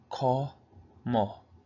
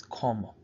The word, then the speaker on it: cómo: Again, we have como, so we pronounce that como. Say it fast, it's como.